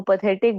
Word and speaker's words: path: मैं इसको पैथ क्यों प्रोनाउंस कर रही हूँ? बिकॉज पाथ, PATH, इंग्लिश में एक ऑलरेडी कंप्लीट वर्ड है. इसका मतलब होता है वे या रूट, रास्ता.